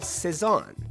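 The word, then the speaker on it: Cézanne: the north end now in French the C sound went even a step further when followed by an e all the way to S this is even easier on the mouth think saavi or the painter Paul seson nice and soft is how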